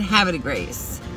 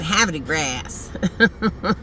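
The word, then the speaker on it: Havre de Grace: But everybody who was new, like me or my husband, we said Habit of Grace. Because that's how it's spelled. Have a D-E Grace.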